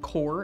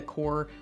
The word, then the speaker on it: KoR: Obviously, I can give you more prescription strength, and the kind that we particularly use in this office is called KoR. It's spelled K-O-R, so you can look that up on the internet, and there's lots of really good research with it.